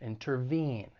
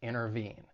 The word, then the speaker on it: intervene: it now for pronunciation the verb has three syllables the stress is on that third syllable intervene one thing I want to point out when it comes to the American accent because I'm from the United States is when the T follows an n Sound especially in unstressed syllables it may allide and people may drop bit so instead of intervene you may hear someone say intervene so just keep that